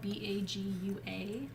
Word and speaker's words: bagua: the event page and keely check that out it's spelled b-a-g-u-a bagua map and it's kind of a map